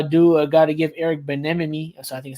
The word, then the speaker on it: Bieniemy: The Commanders are just, again, a fighting team that, I do got to give Eric Bieniemy. So I think I said his name wrong. No, it says Bieniemy. Bieniemy.